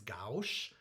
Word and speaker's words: gauche: how to say it i thought it was goosh and a friend who speaks french last night i think he said it's gauche so whatever but i